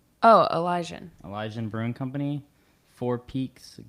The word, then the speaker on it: Elysian: ELYSAN. Oh, Elysian.